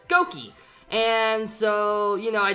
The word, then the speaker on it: Gokey: call me Lukey and my sister who was really young at the time fiddle quite pronounced Lukey so she would always pronounced it as goki and so you know